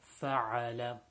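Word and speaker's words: فعل: Most common mistake in this is the ayn is not pronounced in a strong enough manner. So again, fa'ala.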